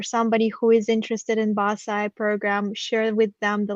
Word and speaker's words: BAScii: it but it's pronounced basae so it's one single word basically which stands for